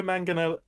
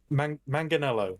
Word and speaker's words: Manganiello: he was gonna have joe mangano manganello that's how you say it always